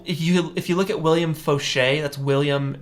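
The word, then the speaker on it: William Faucher: I recommend so you if you look at William Foshay that's William it's pronounced or it's spelled like foucher f-a-u-c-h-e-r uh you check him out he has incredible tutorials William foucher or William Foshay um Winbush also has a lot of good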